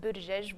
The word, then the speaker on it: Buttigieg: And Mayor Pete's last name is pronounced Buttigieg.